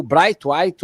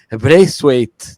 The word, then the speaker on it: Braithwaite: Como temos aí também o Bright White, ou que a gente fala mais aportuguesado, mas é Braithwaite, né? Se fala meio a pronúncia assim, que é esse dinamarquês